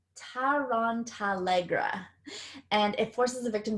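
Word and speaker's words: Tarantallegra: say this wrong for you Harry Potter fans, Tarantella. It's a charm used to force another person's legs to begin dancing uncontrollably, and it's an incantation. Oh, sorry, I said it wrong. Tarantalegra, and it forces the victim to dance wildly.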